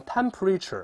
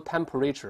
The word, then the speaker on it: temperature: 这个，当然这个温度咱们注意不要读成 temperature，不对啊，中间是一带而过。